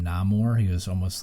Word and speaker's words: Namor: played a bunch of that I think uh pronounced his name namore he was almost like Aquaman so he was